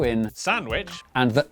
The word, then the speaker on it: Sandwich: as the cester in, Cirencester, the W in, Sandwich.